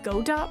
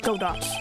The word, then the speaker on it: Godot: more mature God do um who is this godat person it's not surprising that a spirit medium has not heard the name Godot the prosecutor whose equal cannot be found in